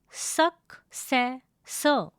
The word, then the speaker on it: successor: The pronunciation of this word is successor. It has three syllables. Please note that the R sound in the end of the word is not pronounced.